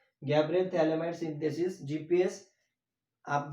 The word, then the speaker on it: phthalimide: View GPS मतलब Gabriel थैलेमाइड synthesis. अब थैला मतलब टी, यहाँ पे क्यों आ रहा है, बिकॉज पी साइलेंट है यहाँ पे, ठीक है।